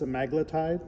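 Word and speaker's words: semaglutide: Some people say sem I say semiglutide but it's simaglletide when I've heard other videos that's how you're supposed to pronounce it.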